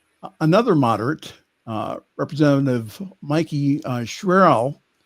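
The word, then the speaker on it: Sherrill: And in New Jersey, another moderate, uh, Representative Mikey Sherel, is that how you pronounce it? Charel. Cheryl, I thought Cheryl. Okay. um busted apart the coalition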